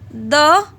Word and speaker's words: the: जब भी वॉवल के साथ आता है, वॉवल के साथ जब हम द का यूज़ करते हैं तो हम क्या बोलते हैं? दी. प्रोनाउंसिएशन जो द की हो जाती है वो दी बोलते हैं.